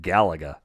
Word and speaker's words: Galaga: what again galaga interesting see we all call it galaga galaga not galileo galaga because yeah and then